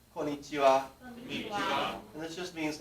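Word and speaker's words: こんにちは: usually will say and this can be h a or it can be wa but it's pronounced so let's say konichiwa and this just means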